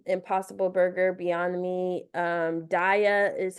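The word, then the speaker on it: Daiya: Almond Breeze Guardian impossible Burger Beyond me um Dia is how you pronounce like the cheese um they do mac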